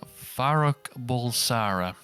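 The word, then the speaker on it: Farrokh Bulsara: Bohemian Rhapsody focuses on Zimbabwe-born Farouk Bulsara. That's how you pronounce it, yep.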